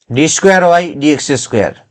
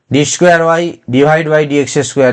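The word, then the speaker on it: d²y/dx²: Not you just pronounce d square y divided by dx square. This is wrong.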